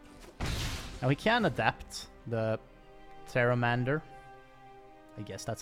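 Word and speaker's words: Pteramander: we can adapt the Terra Mandor I guess that's how you say it Terra Mandor I think the P is silent right it looks like the P is silent because otherwise it makes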